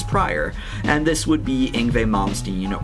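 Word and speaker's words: Yngwie Malmsteen: And this would be Ingve Momstein or Ingui Momstein as I sometimes pronounce it, which is kind of a force of habit because that's how I used to pronounce it when I first heard who he was. I'm still trying to get used to the actual pronunciation.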